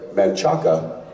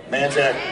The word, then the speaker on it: Manchaca: Yeah, there's some odd pronunciations in Central Texas. Guadalupe. My favorite is what looks like Manchaca. Manchac.